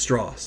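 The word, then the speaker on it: Strauss: at his ego like it's pronounced stoss like it's Admiral it's not Mister you know just the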